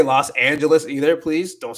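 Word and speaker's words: Los Ángeles: It's not Los Angeles because there is an ah, and the ah makes the ah sound and not the oh wait, yeah, not the o sound. So it's Los Angeles. Los Angeles is how you say that.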